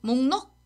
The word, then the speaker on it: 목록: Can you repeat 목록?